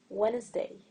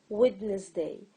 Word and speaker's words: Wednesday: is the D and I used to say witness day so I can write